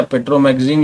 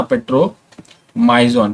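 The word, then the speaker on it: Petromyzon: Cyclostomata में एक पेट्रोमाइजोन है, एक पेट्रोमाइजोन, ठीक है, पेट्रोमैगजीन या माइजोन है ना, पेट्रोमाइजोन, ठीक, स्पेलिंग देखना, MYZON लिखा है, ठीक है।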